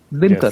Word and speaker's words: Dinkar: Din as in Din Raat. Okay, Dinkar. And Okay. Kar, like Now I'm gonna- Omkar. Dinkar.